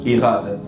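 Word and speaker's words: echad: bien le mot hade ça scit E C H a d ça se prononce hade c'est un mot hébreu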